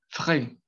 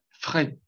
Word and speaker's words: frais: Entonces, la pronunciación de estas tres, o sea, de la última sílaba, es frais, frais.